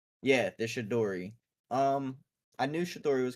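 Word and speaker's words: Chidori: Oh, Shidori. Shidori. Yeah, the Shidori.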